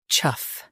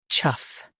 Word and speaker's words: chough: chough Now, read the syllables shown on the screen naturally. chough chough Say chough. The g h is silent.